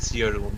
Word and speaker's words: Jeroen: you're sort of pronouncing it in a French way. Oh, I know it is not Jeroen, like if Yeah. No, it's Jeroen. It's Jeroen, Jeroen.